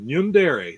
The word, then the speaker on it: Yundere: She goes, "I would pronounce it Yundere." So that's what I've done ever since.